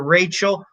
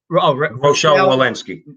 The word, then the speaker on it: Rochelle: a mask or physical distancing cdc director dr rachel malinsky says rochelle my bad my jerseys i pronounce things like my father which is jackass